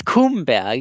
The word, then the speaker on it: Kumberg: It's Kumberg. You gotta say it like it's a funny land.